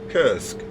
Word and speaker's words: Kursk: Is it pronounced Krisk? Kursk.